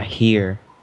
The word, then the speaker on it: here: I will just It's here. here. Here. Okay, I have to pronounce the H.